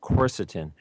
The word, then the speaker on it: quercetin: cancer cells in either animals or people is corset in' corset in I'll spell it it's Q u e r c e